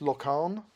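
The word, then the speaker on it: Laugharne: So we're told this is pronounced Locarn, and we are desperately trying to improve our Welsh pronunciation, having lived here for 3 years.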